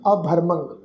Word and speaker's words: अभरमंग: मम्मे के उपर तुसी देखो भी टिप्पी की मात्रा वा अखीर के उत्ते अकर्मंग अभरमंग, जिहड़ा इस टिप्पी की मात्रा का नासकी उच्चारण करांगे।